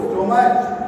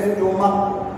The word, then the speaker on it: stomach: जैसे लिखा हुआ है STOMACH, क्या बोलेंगे इसको, स्टोमच नहीं, इसको बोलेंगे स्टोमक का, स्टोमक का आ रहा है, जब का उच्चारण आ रहा है इसका क्या हो जाएगा, STOMACH, स्टोमक हो जाएगा, STOMACH हो जाएगा।